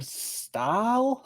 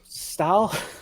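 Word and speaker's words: Stahl: uh it was written by Bill pretty Jim Fisher and Jim Style is that you pronounce that s-t-a-h-l aw whatever uh bill yeah Bill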